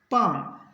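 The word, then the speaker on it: palm: जैसे पहले देखते हैं पी ए एल एम, एल के बाद एम है तो इसको पढ़ेंगे पाम।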